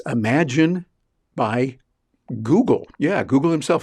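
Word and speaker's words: Imagen: into as well it's Imagine by Google yeah Google himself and that's spelled i-m-a-g-e-n they kind of made up their own word but it sounds like imagine and they did that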